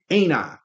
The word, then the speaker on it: AINTI: All right, so the ticker is ANI. That's how you pronounce it, but it's AINTI.